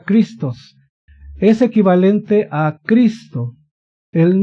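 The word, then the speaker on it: Χριστός: Se escribe en griego ahí, pero se pronuncia Christos.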